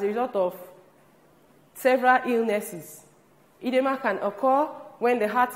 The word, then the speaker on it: edema: This is pronounced edema.